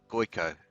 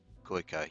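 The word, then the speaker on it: Gojko: The J is read as Y. Okay, the J, so that would be Goiko, I guess. So it would be pronounced Goiko, yeah.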